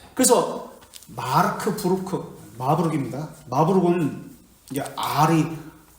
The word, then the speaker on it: 마르부르크: 이어받지 않았습니다 자 그래서 마르크 브루크 마브룩 있니다 마브룩 이제 아이 쓸 때는 우리말로 쓸 때는 으르 해가지고 이렇게 쓰는데 어발음 있니다 마브룩이 마브룩 회담은 종교 개에 흩어졌던